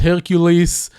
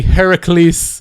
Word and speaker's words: Heracles: The whatever is named, the lion that fought Hercules. Sorry, Heracles. The game corrects you on the pronunciation. Zeus say Hercules, and Prometheus corrects him to Heracles, and he say that's the correct way to say it.